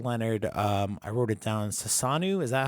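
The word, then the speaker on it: Susanoo: Sasanu, is that how you say it? Sasano. Which Sano. Sano. Sasano. Sasano. Sasano. No, not new. It's no. Yes. Sasano.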